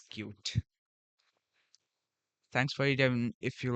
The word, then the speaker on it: Qt: some QD things and sorry for pronouncing this cutie it's like more good for me to pronounce cutie. So that's why I do that. Actually, it's cute.